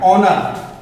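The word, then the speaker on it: honour: ऑनर, यहाँ पे पढ़ना है हमें ऑनर, ऑनर से नहीं पढ़ना है, एच का उच्चारण यहाँ पे नहीं करना है। देखिए ओ के पहले हमें एच यहाँ पे साइलेंट मिल गया।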